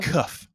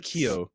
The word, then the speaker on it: Keough: Cuff. Riley Keough. I think it's Keough because I did actually look up the pronunciation.